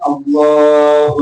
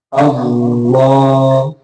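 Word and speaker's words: الله: lamul jalalahnya itu nah itu dibacanya itu hanya dengan dua harokat kalau salah. Itu afdal. Nah, boleh dibaca panjang sampai 7 alif atau 14 ketukan. Misal Allah Allahu Akbar.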